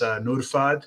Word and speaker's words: Nurfad: LinkedIn, different live shows, how to say my name, it's Nurfad. So Nurfad. That's the real pronunciation of the name. People are always anglicizing it and changing it.